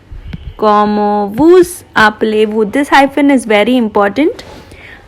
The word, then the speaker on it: Comment vous appelez-vous: I am pronouncing this S because this is a vowel. If this was a consonant, I would not have pronounced it. So it is Comment vous appelez-vous? Comment vous appelez-vous?